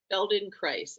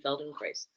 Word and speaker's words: Feldenkrais: This is what Rhymes with rice. this is the word that she keeps saying, Feldenkrais, and it is named after the person who developed it, who founded it, Moshe Feldenkrais.